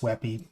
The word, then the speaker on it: WebP: or a wey or it's webp but pronounced wey but any case you'll